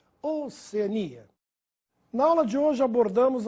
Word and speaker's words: Oceania: a forma nóbel como Alguns falam oceânia ou Oceania já ouvi gente falar oceânia deve ser por causa da palavra oceano mas não confunda pois o nome do continente é Oceania na aula de hoje